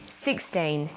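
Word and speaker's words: sixteen: Usually the first syllable in a number is stressed. 16, 60. Notice that it's the final N in teen that you have to be careful with.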